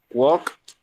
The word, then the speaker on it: walked: In this case, for example, the verb walked has the L doesn't sound in the verb, okay? La L no suena en el verbo. It's pronounced as walk.